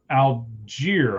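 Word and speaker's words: Allgeier: Tyler Alier, I believe is how you say it.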